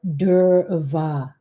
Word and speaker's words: durva: This is Ganesha grass or durva. So people want to know the difference between Ganesha grass or durva, D-U-R-V-A. That's what it's, how you say it in the Indian tradition.